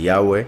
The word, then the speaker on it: Yahvé: le llamaron y ave por un error en la pronunciación de yahvé cambiándola por una uve porque la letra vav en hebreo tiene ambos sonidos y no entendían que en yagüe se pronuncia como una vocal como también hay evidencia ellos lo pronunciaron como una consonante entonces quedaron con llave